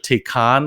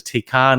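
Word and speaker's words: Taycan: though so the Porsche take on let's call take on even though it looks like it's spelt a can looks gorgeous it that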